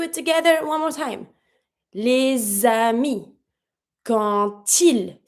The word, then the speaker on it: les amis: Example, the friends, les amis. I have my S. Pronounce it like a Z.